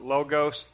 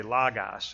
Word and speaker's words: logos: oos everybody calls it logos but those are short O's not long O's it's really logos it's pronounced logos and